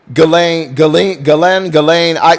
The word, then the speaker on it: Ghislaine: Her name was Ghislaine, she says, pronouncing her name Ghislaine.